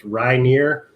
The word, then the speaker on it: Ryneer: name is and it's pronounced ryneer so it's like rye bread and then near not far um you can find